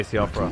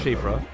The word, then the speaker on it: Siofra: Every time I look at Siofra, I'm probably just going to say Siofra. I'll try to remember it's Shifra.